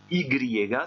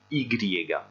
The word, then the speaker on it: i griega: prononciation de la lettre ici ygrié gars ce n'est pas la façon de prononcer cette lettre là c'est son nom en français on dit y en espagnol on dit ygrié gars et vous avez déjà